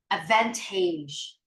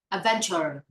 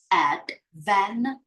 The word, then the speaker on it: advantage: and the second mistake that is Advantage but you pronounce the word in a very weird way you pronounce it like Adventure or Avent something okay no please try to pay attention to the words on the screen it has three syllables Advantage Advantage Advantage I don't know the